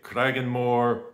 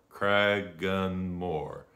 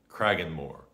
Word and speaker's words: Cragganmore: r you could say kragenmore or you could say kragenmore crag gun more kragenmore